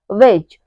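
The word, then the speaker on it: wedge: silent है वैसे ही अगला है वेज वेज में भी डी के बाद क्या आ रहा है जी आ रहा है तो यहां पे हमारा डी साइलेंट है अगला रूल है ई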